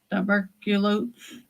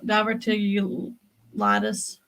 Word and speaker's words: diverticulitis: Diverculosis. No, Diverticulitis.